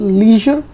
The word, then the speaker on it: leisure: Free time के लिए एक वर्ड और चलता है इंग्लिश में, दैट इज़ कॉल्ड लीजर या फिर लेजर. सो आप लेजर या लीजर वर्ड यूज़ कर सकते हो, एंड the spelling is LEISURE.